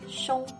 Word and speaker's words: 凶: Then, xi plus yu plus ng makes 凶, which might sound odd if you're hearing this for the first time.